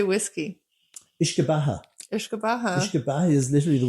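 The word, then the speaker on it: uisce beatha: Ishkabaha.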